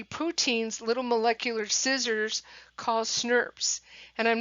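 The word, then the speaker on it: snRNP: little molecular scissors cause nerves and I'm not making this up that's actually pronounced nerves and in my mind to be honest I think of Smurfs those little purple or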